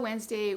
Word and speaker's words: Wednesday: read wednesday but um how do you spell wednesday when there's a silent letter in there so that